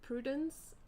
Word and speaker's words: Prudence: Uh but my name is actually pronounced in like French uh which is prudence